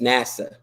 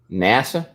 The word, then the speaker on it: Nasser: they said nassa is actually pronounced like NASA so just NASA NASA NASA that's funny if